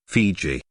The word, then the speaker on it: Fiji: and much in demand they called their home Vitti but the Tongans called it fizzy and it was by this foreign pronunciation Fiji first promulgated by Captain James Cook that these islands are now known Fiji the anglicized spelling